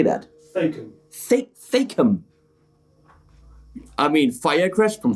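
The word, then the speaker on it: Thakeham: Thacum.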